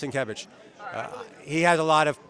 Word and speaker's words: Sienkiewicz: All right, Sienkiewicz. All right. Trust me, his name is pronounced Sienkiewicz.